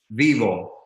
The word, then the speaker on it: Vyvo: this is the brain the brain is it's pronounced vivo vivo it's a lot e word that is